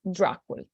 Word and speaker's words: Dracul: last name was uh was Dracula or dracul in Romanian pronunciation this is a fresco